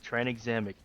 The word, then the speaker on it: tranexamic: an X but in in American speech put together it's pronounced as a z yeah yeah okay anyways